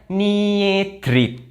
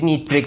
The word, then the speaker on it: niedrig: Kalau tadi kan EI, sekarang IE itu dibacanya I. Kayak contoh ini. Nih. Kalau kita Indonesia bacanya Niedrig. Niedrig. Tapi kalau kita baca di Jerman kan kita pakai I. Jadi Niedrig, bukan Niedrig, tapi Niedrig. Jadi kayak E-nya nggak dibaca gitu loh.